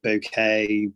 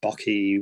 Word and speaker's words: bokeh: blur in the background bokeh b o k e h and there's a number of different ways pronouncing it bouquet bucky whatever you want to call it i call it bokeh and and yeah so